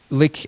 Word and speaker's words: LyX: Pronounced Lick, but LYX.